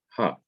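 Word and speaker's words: הַ: Normally, the definite article is a he followed by the short vowel pathak, and it is pronounced ha.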